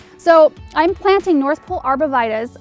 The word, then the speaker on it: arborvitae: So I'm planting North Pole arborvitaes. Arborvitae is the way we pronounce the name in my area. Arborvitae is another way I've heard it, which is probably proper, but I'm going with what I know here.